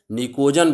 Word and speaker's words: pnictogens: ठीक ना, P silent है इसमें, निकोजन्स।